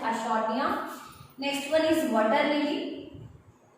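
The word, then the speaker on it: Eichhornia: तो aquatic plants की बात करें लाइक आइकॉर्निया, समटाइम्स दे से टू बी आइकॉर्निया, बट the correct pronunciation is आइशोर्निया।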